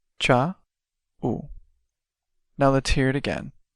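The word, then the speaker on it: tchau: literally means bye let's break it down by syllable cha now let's hear it again cha now for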